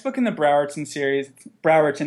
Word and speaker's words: Browerton: So the next book in the Browerton series, Browerton, not Bowerton.